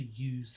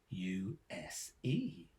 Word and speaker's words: use: Many common examples include USE. This rhymes with loose when a noun, so use. It rhymes with YEWS when a verb, so use.